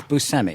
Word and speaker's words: Buscemi: Now, is it how do you pronounce it? You said it the way I say it. Yeah. Buscemi.